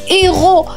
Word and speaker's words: héros: H comme héros. Héros. On ne prononce pas le H, vient directement le E.